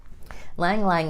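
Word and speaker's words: ylang-ylang: Lang Lang is another one, spelled Y-L-A-N-G, Y-L-A-N-G. Lang Lang's how you say it.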